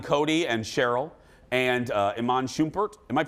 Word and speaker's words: Iman Shumpert: sorry leo peloton cody and cheryl and uh iman shumpert am i pronouncing that right yeah and daniela but in